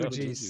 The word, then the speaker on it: Fugees: And I did listen to a little bit of the, how do you pronounce it? Fugees? Yeah. Fugees.